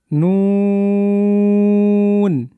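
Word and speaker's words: ن: এরপরের হরফে আমরা যাব মিম, আরেকবার উচ্চারণ করব মিম, মিম টান দিয়ে, চমৎকার। এবার নুন, আরও চমৎকার করে বলার চেষ্টা করুন আপনি, নুন।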